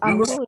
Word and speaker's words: Amr: Abu Amru ya, Kenapa? Abu Amru Abdani. Tulisannya Amru tapi bacanya Amr.